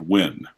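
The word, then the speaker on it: Nguyen: me or Kenny Kenny win and like I said we have a very large Vietnamese population here in Oklahoma City and they tell me ng uie and it's actually pronounced win but you know they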